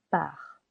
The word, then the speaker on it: pars: make it clear part je pars silent s je pars Tu pars.